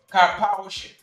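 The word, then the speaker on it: Karpowership: this this um Turkish company car powership that pronunciation the car poers it's one word car Powers ship k a r Powers ship capish this company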